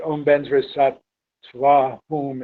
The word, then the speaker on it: Vajrasattva: Benzra is how Tibetans pronounce Vajra. Sattva is not how they pronounce Sattva, they pronounce it Sato, but we don't actually have that marked here. And Hum is the way they pronounce Hum.